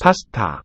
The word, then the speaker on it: 파스타: So these ones, 파스타, first and last syllable here, pa, ta, are aspirates. They have a lot of breath coming out with the stops.